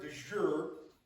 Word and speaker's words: de jure: For those that may not know, the word de jure, did I say that right?